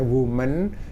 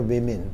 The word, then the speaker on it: women: such beautiful women Nah kalau ini bacanya womanen ini bacanya women teman-teman ya Jadi ini